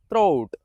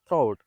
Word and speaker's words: throat: Common mispronounce word in English is throat. People often mispronounce this word as thro. It's not thro, it's throat.